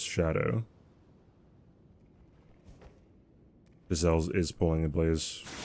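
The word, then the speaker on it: Scadu: Well, one, you're not supposed to say it like that anyways. It's supposed to be Shadow or Shadow. People just say Skadu because that's what it looks like. But what it actually is, it's just Shadow.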